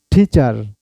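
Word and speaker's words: teacher: টিচার, আপনি ঠিচাও বলতে পারেন, টিচার, ঠিচা। টি এর উচ্চারণ আর ঠয়ের উচ্চারণ করবেন, টিচার, টিচার।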